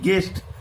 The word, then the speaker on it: guest: GUEST, গেস্ট, এখানে your কোনো উচ্চারণ নেই।